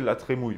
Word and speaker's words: La Trémoille: la tremoille un jour quelqu'un m'avait dit que ça se prononce t la trémouille même façon dans les deux cas c'est ridicule mais en plus des